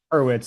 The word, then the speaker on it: Horowitz: Is that Yeah, how you pronounce it? Hurwitz, that's Okay, right.